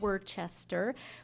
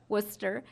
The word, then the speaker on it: Worcester: of Worcester which I it took me a while to pronounce like everybody else who's not from the area not Worchester Worcester and ultimately it came